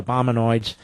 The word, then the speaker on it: Obamanoids: Obamanoids obviously rhymes with hemorrhoids.